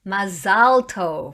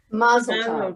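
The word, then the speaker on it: מזל טוב: How about Mazal Tov, which is how you say it in Hebrew? What do people say? Mazel tov. Mazel tov. Mazel tov sort of has a f on the end, right? Mazel tov with a different accent. In Hebrew, Mazal Tov, and in English or Yiddish, maybe Mazel Tov.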